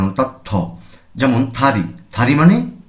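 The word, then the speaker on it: 다리: উচ্চারণ যদি ত হয় শব্দের শুরুতে যখন আসবে তখন এটিকে আমাদের পড়তে হবে ত এর মহাপ্রাণ অর্থাৎ থমন থারি থারি মানে পা থারি মানে পা অনেকে আমরা দাড়ি বলে থাকি তাহলে ভুল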